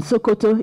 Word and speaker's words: Sokoto: what is there in sokoto is there in shokoto sokoto is the father's point in northwest of Nigeria written the same way but pronounce s-o-k-o-t-o shakoto means trouser in Yoruba language so they say what